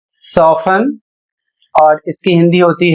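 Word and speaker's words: soften: अगला शब्द है एस ओ एफ टी ई एन इसे पढ़ा जाएगा सोफन और इसकी हिंदी होती है नरम करना।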